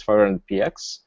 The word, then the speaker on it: 500px: clear how it's uh supposed to be uh pronounced and how it's supposed to be said so now it's clear that it's 500 PX and that's kind of like the main uh